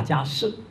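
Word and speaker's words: 迦葉: 大家舌，可能讀舌會啱啲，啊，個葉呢是字是葉，啊，但其實讀音是不同，啊，頭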